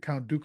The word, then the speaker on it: Dooku: assume that's how you say it is it Count Dooku I believe that was correct yes I believe